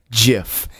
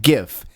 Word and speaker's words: GIF: yeah the creator of the jiff says it's pronounced jiff now a lot of people pronounce it gif but the creator said it's pronounced in 2013